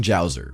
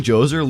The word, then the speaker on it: Djoser: and build the pyramids, but they also introduced the silent letter. And where would society be without it? King Djoser leaned into the whole god-king situation and built the Step Pyramid of Saqqara.